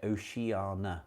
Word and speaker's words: Oceania: oana theme as well is it Oceana I mean I know it's spelled near Oceania some people just say Oceana because I think they've